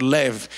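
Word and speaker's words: לב: actually the word lay it's spelled l a b but it's pronounced and what's so unique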